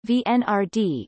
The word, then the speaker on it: Венера-Д: Venera-D, Russian, Venera-D pronounced VNRD, is a proposed Russian space mission to Venus